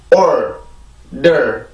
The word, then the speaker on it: order: 절대 그렇게 발음하지 않고 R 발음이 들어가 있기 때문에 R 발음의 느낌을 살려주고 그 다음에 D 발음으로 바로 넘어가서 이 두 번째 음절을 만들어주면 돼요.